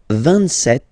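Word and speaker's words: vingt-sept: 27. Remember set, it was this P disappear. You don't pronounce it.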